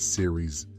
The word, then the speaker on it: Ceres: Not like Siri like Apple but series uh I think it's spelled C E R E S.